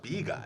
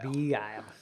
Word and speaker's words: Begyle: And it's pronounced Begyle. Begyle.